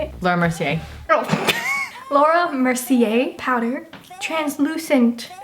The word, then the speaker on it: Laura Mercier: We're using Laura Mercier. Is that how you say it? Laura Mercier.